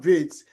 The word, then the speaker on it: Wirtz: Same with Florian Wirtz.